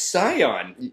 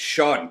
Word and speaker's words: Sean: That's Scion. Yeah, exactly. No, it's Sean. Sean. I've always named myself Sean. I've been called Sean forever, and I'd appreciate it if you kept calling me Sean.